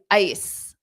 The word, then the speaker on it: ice: exactly but it's not it's not the same pronunciation as eyes so it's ice ice so Sunday is right but it's not I eyes and Ice have different pronunciation I ice i ice so notice when I say I my mouth opens more I and ice ice what